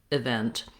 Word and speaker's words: event: like a schwa event the important thing is that in the dictionary you're going to see this little line goes before the stressed syllable so i have a clear e vowel like red in the word vent i mean in the word event in the stressed syllable but my first letter e is going to be that unstressed if sound this is the same